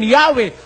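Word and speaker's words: Yahweh: Although inclining to view the pronunciation Yahwe as the more correct way, we have retained the form Jehovah because of people's familiarity with it in the 14th century.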